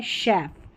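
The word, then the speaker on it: chef: श पढ़ा जा रहा है सी एच को यहां पर पैराशूट शैंपेन और यह है शेफ।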